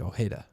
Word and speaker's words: Ojeda: picture I thought he I thought he said it like oh Heda who used to pitch